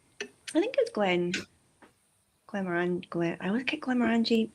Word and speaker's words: Glenmorangie: Um I think it was Glen Glenmorangie Glen I was Glenmorangie Glenmorangie I never get to pronounce it right. Morangie. It's Morangie.